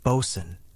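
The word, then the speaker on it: boatswain: Then there was the Bosan, often pronounced Bosan.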